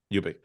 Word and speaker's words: Ubik: Is it pronounced Ubik or Ubik? Yeah, Ubik. Ubik.